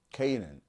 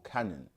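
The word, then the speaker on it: Canaan: because obviously Ham's son was Canan or Canon as some people say so woat is for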